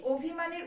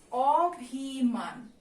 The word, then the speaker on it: অভিমান: এই স্বরেও ধরে যদি আমি উচ্চারণ করি তাহলে এটার উচ্চারণটা হচ্ছে অভিমান, তাই তো। কিন্তু আমরা এটাকে কিভাবে উচ্চারণ করি? আমরা কিন্তু এটাকে অভিমান উচ্চারণ করি, তাই না?